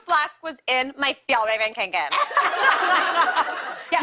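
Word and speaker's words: Kånken: I mean, my hydro flask was in my Fjallraven Kinken. Yes. you learned how to say it, too. My Fjallraven Kinken.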